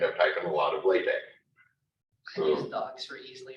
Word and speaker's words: LaTeX: LaTeX, it's LATE. Well, we spell it this way, LATEX. But it was some years back.